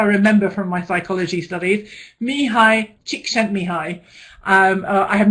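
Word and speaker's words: Mihaly Csikszentmihalyi: Mihai Csikszentmihalyi. I have not learned how to spell that, though.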